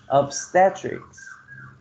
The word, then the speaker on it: obstetrics: right neurology number five obstetrics the second syllable receives the stress number six we have